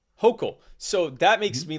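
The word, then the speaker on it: Hochul: she's not a hotel is it ho chill hachel it's actually pronounced hulkel hokel so that makes me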